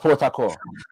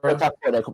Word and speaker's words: Port Harcourt: That's pronounced Port Harcourt. Say that again, Shaka. Port Harcourt, they pronounce it.